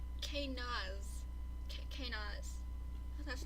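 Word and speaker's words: Kenaz: And this one is pronounced, it's spelled K-E-N-A-Z. And the pronunciation is K-Naz.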